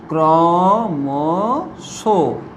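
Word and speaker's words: ক্রমশঃ: অর্থাৎ শব্দের শেষে, যেমন দেখো উদাহরণ, ক্রমশ, ক্রমশ, এইভাবে যখন দেখবে শব্দের শেষে বিসর্গ থাকছে তখন কি রূপে উচ্চারিত করবে? ওকার রূপে। ক্রমশ, ক্রমশ।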